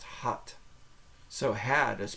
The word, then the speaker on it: had: second word had is spelled exactly the same h a d but it's pronounced hot so had is pronounced